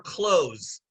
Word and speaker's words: clothes: The TH is like an S.